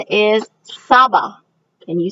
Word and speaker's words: saba: 7 is Saba. Can you say that? Saba is 7.